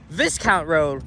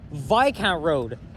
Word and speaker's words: Viscount: And this here is Viscount Road, or actually, excuse me, Viscount Road. I actually didn't realize until the last walking video I did here that the S is silent.